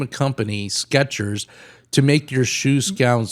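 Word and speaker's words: Skechers: I got the sketches, you know, because of the way we are pronouncing it. Sketchers. So, we think it's a T in there.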